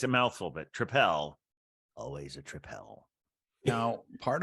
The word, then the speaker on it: Tripel: So yes, it's a mouthful, but Tripel, always a Tripel.